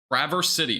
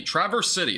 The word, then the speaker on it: Traverse City: real quick if I can find an action pronunciation Traverse City Traverse City okay there we go thank you yeah so